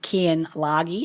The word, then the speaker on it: Keyen Lage: to the conversation so I help me welcome Ken lagi how are you darling I'm doing fantastic and the pronunciation was perfect oh ex so very few